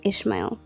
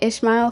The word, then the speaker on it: Ishmael: will have a son you will name him ishma ishma sorry for the mispronunciation you will name him Ishmael for the Lord has heard your cry of